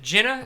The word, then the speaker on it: Jenna: I have to ask: is it Jenna? Is that how they pronounce it? Yeah.